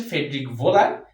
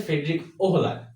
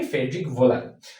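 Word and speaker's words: Friedrich Wöhler: পরবর্তীতে আরেকজন বিজ্ঞানী বিজ্ঞানী ফ্রেডরিক এটার উচ্চারণটা হচ্ছে ফেডিক ভোলার। কিন্তু এটার যে স্পেলিংটা এই স্পেলিংটা দেখে লাগে হচ্ছে ফ্রেডরিক ওহো। কিন্তু আসলে উচ্চারণটা হবে কি? ফ্রেড ভোলার। সো বিজ্ঞানী ফেডরিক ভোলার কিন্তু আরেকদিন এই ভাইটাল ফোর্স থিরিকে ভুল প্রমাণ করে।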